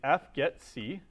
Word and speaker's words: fgetc: So the first one that we're going to do is fgetC and fget s. Right? So we call these fgetC because there's no way of nicely pronouncing that.